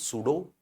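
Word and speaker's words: pseudo: inner and subjective space S फॉर सूडो if pronounce सूडो एस की sound आएगी तो subjective space this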